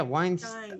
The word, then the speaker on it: Weinstein: just be talking about it's stein like einstein einstein yeah weinstein oh yeah einstein weinstein's not like harvey okay i actually tried